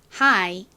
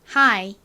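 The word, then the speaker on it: high: 다만 아까 말씀드린 것처럼 영어 단어들 중에는 철자도 다르고 의미도 다르지만 발음이 똑같이 나는 단어들도 존재하는구나 이렇게 간단히 이해를 해주시면 됩니다 자 높은 한번 발음해 볼게요 하이 한 번 더 해볼까요 Hi 아 하이가 나온 김에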